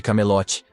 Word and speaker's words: Camelot: conquistar o rei de camelote para evitar que outros passem por experiências como as dele sim elogia Sua determinação mas corrige que a pronúncia é Camelot não cy como Percy disse Percy lembra do jogo